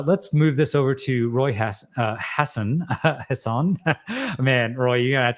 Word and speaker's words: Roy Hassan: It's Roy Hassan.